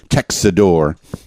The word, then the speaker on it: Tecxidor: There's a lot of syllables in there. They jammed the C in the middle of that. Tecxidor.